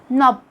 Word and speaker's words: knob: Letter K is silent when it comes at the beginning of a word followed by an N. Like when you say knee, knock, knob, no, night, which also have silent GH.